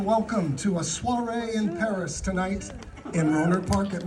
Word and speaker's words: Paris: million went to where Paris we don't pronounce the S the beautiful romantic City